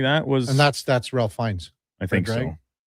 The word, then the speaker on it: Fiennes: Fiennes? Is that how you pronounce it?